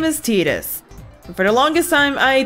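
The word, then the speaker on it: Tidus: The only reason why I'm for sure know as Titus, not just because this was made in Japan, it's because when Dissidia came out, Dissidia is a fighting Final Fantasy game or something like that, they pronounced it as Titus. As such, until otherwise noted, that is canon.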